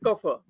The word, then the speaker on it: Kapha: Vata, Pitta and Kapha. This is the proper pronunciation.